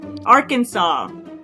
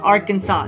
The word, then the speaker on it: Arkansas: you're a dork dude Arkansas Arkansas must be pronounced Arkansas not AR Kansas Arkansas Arkansas mhm Aransas